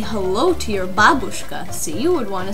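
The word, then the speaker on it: бабушка: no no it's not babushka it's not babush kay i don't know what you would say it's babushka in russian here we put the stress on the first syllable so say it with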